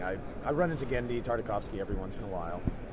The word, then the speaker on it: Tartakovsky: as a 2d animated feature that's how you pronounce his name whoa yeah gen tarkovi gendi tarkovski um and the thing is it just hasn't